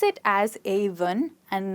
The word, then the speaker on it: Avon: they pronounce it as Avon and not Avon. And the best way to remember it is through the number 1.